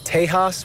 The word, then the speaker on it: Tejas: indian people they had a word taisha which the spanish pronounced tejas which then detect the uh white settlers then called the area texas which meant friends which